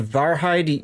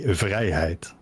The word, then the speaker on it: Vrijheid: And I called it the Varheid. You say it's pronounced better somewhere else, right? We in the Netherlands say vrijheid. Vrijheid. That's a lot closer, yes.